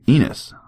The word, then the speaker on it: Enos: Apparently supposed to be enus. Yeah, Enus. He said it rhymes. It's like it sounds like penis without the P.